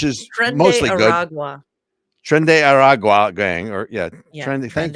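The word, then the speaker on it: Tren de Aragua: Trende Aragua gang, or Yeah, Trende. Thank you. Trende I Aragua. would have butchered that, but Yeah.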